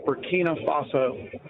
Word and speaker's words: Burkina Faso: just going to tell you that uh country's pronounced Burkina Faso say that it had a missionary over there